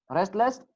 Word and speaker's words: restless: Restless? Restless. Do we pronounce it or not? D. Not pronounced. No T. pronounced T. Okay. We do not pronounce the sound T in option D.